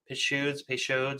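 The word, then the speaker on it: Peychaud's: Put in some pichoid bitters. Again, pronunciation peso bitters.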